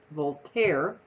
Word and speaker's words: Voltaire: as the French writer and philosopher both Health Voltaire v-o-l-t-a-i-r-e I think that's how you say it